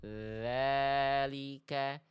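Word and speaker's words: ذلك: Bacaannya begini yang benarnya. Dza dza. Ikuti dari rumah. Sengaja saya zoom begini. pelafalan saya. Semoga teman-teman bisa mengikuti. Ikuti, dengarkan detail bunyi dan dengarkan e lihat visualnya. Dza dzalika dzalika.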